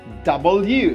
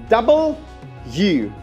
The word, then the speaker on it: double u: U's are there if if I break it it work this way U plus u going to be Double U so you actually pronounce it this way since there are two U's in here so you pronounce it Double U well done X again